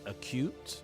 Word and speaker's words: acute: you U Mary it's acute not acute it's acute it's it's um it's just the uh stress that's right it's a cute it's it's on the second syllable and it's also and